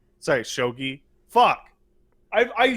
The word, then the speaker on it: Shogi: There's a fucking bit in Hunter x Hunter that's really bizarre that has to do with Shogi. Sorry, Shogi. Fuck. I said it wrong once, and now I'm pronouncing it that way on in which they want to build up how smart a character is.